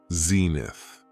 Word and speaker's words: zenith: It has 2 syllables, and the stress is on the first syllable, zenith.